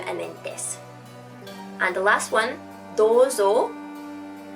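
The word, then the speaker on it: です: It's spelled desu, but you don't really pronounce the u, just desu.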